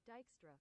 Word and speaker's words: Dijkstra: So I'm going to do Dijkstra, according to this, the pronunciation, Dijkstra.